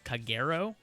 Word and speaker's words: Kagero: but we're facing uh kagero i believe is how you pronounce the clan name and they're very much